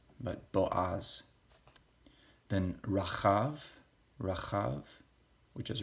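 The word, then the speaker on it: בֹּעַז: last video shall the moon then we see Bo Oz bajas it's important we pronounce these correctly not not pronounced Boaz but Bo Oz then Rajas Rajas which has a Rahab Ovid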